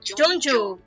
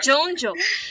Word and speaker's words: Junjou: Se a gente for pronunciar no japonês fica Junju. É Junju.